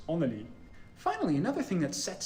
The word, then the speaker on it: underlig: In Swedish, it's pronounced underlig, but in Danish, it's onelig.